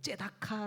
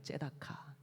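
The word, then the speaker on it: צדקה: 나온다 말씀드렸는데 첫 번째가 구제 히브리어로 이게 조금 발음이 좀 어렵긴 한데요 째다카 라는 말이에요 째다카 이 말은이 구제가 갖고 있는 원래 뜻은 뭐냐면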